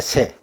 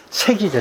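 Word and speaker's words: 塞: 뜻을 쓰 변방 요새요 그 때는 발음 발음이 셉입니다 새 변방 요새 그리고 여기서는 그런 뜻을 쓰 있는게 아니고 막는다 하는 동사로 쓰였어요 막는다 그러니까 색이죠 색 색을 읽어야 되니다 색 막는다 한 동사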